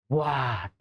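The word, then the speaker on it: what: ना व्ट मत पढ़ना कुछ बच्चे सोचते हैं एच है तो एच कैसे छोड़ेंगे वट हा इसमें एच जो है व कंप्लीट साइलेंट मोड में होता है कंप्लीट मतलब की एच की प्रोनंसिएशन होनी ही नहीं चाहिए सीधे आपको व्ट बोलना है वाई बोलना है जैसे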